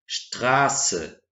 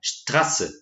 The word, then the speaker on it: Straße: Esse SZ, então, ele está indicando que a minha vogal anterior ela vai ser mais longa. Ou seja, não é Straße. Eu tenho Straße, Straße. Se eu tivesse grafado ali dois S, a gente teria essa pronúncia de Straße. Straße seria algo mais curto, mais preciso, não tão alongado quanto Straße.